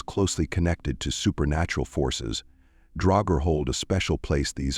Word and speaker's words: draugr: The original form of the word is pronounced as dragger, but later in old Norse Danish and Swedish it began to be simply recorded as drag.